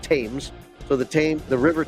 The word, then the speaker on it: Thames: saying it wrong the Thames River this th but I say Thames but they say they pronounce it tames so the tame the